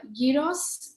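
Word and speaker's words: gyros: time this is uh Yos it's it's spelled g y r oos and it's traditionally a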